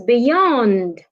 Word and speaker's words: beyond: stress the second syllable another example is beyond beyond is a preposition you need to stress the second syllable another example is the